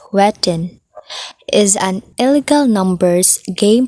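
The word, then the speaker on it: jueteng: first what is jovating so juvede that tagalog pronunciation is wetting is an illegal numbers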